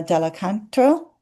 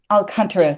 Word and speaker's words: Alcantara: And for us in Alexander technique, I'm thinking of, oh gosh, I'm not sure I'm going to pronounce his name right, Pedro, uh, Dela Canto? Uh, his book Alcantara, thank you.